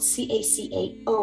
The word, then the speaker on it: cacao: to taste like chocolate again it's cacao not to be mistaken by cocoa so it's spelled c-a-c-a-o which is the pure